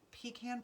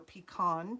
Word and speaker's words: pecan: The bottom layer was a pecan pie, or pecan, depending on how you say it, pecan pie.